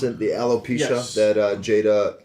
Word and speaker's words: alopecia: What happened is that For those who didn't see, Chris Rock made a joke about it's alopecia. Is that how you pronounce it? The alopecia Yes.